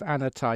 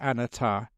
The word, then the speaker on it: anatta: sermon was actually on the the teaching of anatta. You got to be very careful actually when you pronounce the the Buddhist term for non-self, anatta.